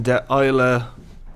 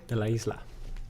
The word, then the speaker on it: De La Isla: On this week's Insider podcast, we're talking to Kevin de Isla O'Neill. De la Isla. Sorry, I was reading and I couldn't pronounce it properly.